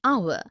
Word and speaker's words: hour: air an honest an hour because the words air honest and our begin with the vowel sound as the initial consonant h is not pronounced article one we use